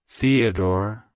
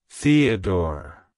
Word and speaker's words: Theodore: a strong religious Association it's pronounced as Theodor Theodore Theodore to pronounce it correctly emphasize the the and door